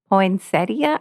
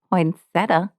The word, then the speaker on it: poinsettia: And I just got to tell you guys, poinsettia, I didn't even know because I've never written that word before. I didn't realize there was an IA at the end. I thought it was poinsettia because that's how I had pronounced it.